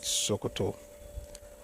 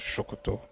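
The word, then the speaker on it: Sokoto: Anyway, let's move away from that and quickly visit Sooto. I hope I'm pronouncing it correctly. Some people told me I've not been pronouncing it correctly. Supposed to be SK, not Shokoto.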